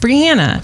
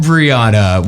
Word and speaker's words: Briana: But by the way, my name is pronounced Brianna, not Brianna. Not Briana.